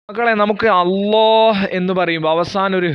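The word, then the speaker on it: الله: മക്കളെ, നമുക്ക് അല്ലാഹ് എന്ന് പറയുമ്പോൾ അവസാനം ഒരു ഹ്, സുക്കൂനുള്ള ഹ് ഉച്ചാരണം വരുന്നില്ലേ?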